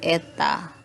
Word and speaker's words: eta: viskos ini, koefisien fluidanya disebut eta, seperti huruf N itu dibacanya eta.